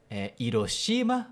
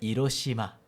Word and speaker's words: Hiroshima: Então não é Hiroshima, mas é Hiroshima. Quase. Quase. Por quê? Porque o H em japonês sempre é pronunciado, aspirado, não é Hiroshima, mas é Hiroshima, tá?